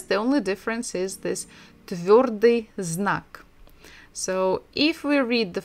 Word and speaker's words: твёрдый знак: But by itself, it has no sound at all.